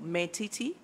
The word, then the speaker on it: Maltiti: name again I want to say it well meti meti you you came strong following very engaging